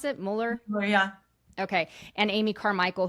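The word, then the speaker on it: Müller: Is that how we pronounce it? Mueller?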